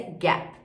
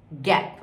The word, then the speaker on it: Gap: Mais uma vez, esse I final. A gente fala Gap, em inglês é Gap. Gap. O último som é da letra P.